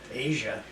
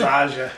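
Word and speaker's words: Aja: their greatest hits yes our mother owned Asia we didn't we didn't know that for a long I always thought it was AA yeah as I still want to call it AA cuz you Asia was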